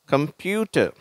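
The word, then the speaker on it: computer: Next கம்ப்யூட்டர், சரியா? கம்ப்யூட்டர், அந்த கம்ப்யூட்டர் அப்படின்னு இந்த இடத்த கொஞ்சம் அழுத்தி உச்சரிக்கிறோம், இந்த கம்ப்யூட்டர் அப்படின்ட்டு.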